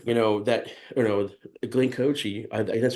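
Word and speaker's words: Glenn Kotche: or with whoever you know that you know Glen coochi that's how you pronounce his name but he was there and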